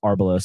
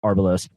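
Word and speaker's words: Arbelos: So I wanted to quickly ask you about um Arbolos. I guess I mispronounced it originally but Arbalos.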